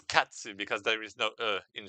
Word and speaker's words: katsu: And cut, if you want to pronounce it the Japanese way, you know, it's like and it's katsu because there is no in Japan.